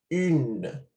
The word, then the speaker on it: une: Se pronuncia une.